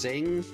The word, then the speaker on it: Cing: Unfortunately, we never It was supposed to be a trilogy and I think it was pronounced Cing. C I N G, however they pronounce it, went out of business, so we never got the third game.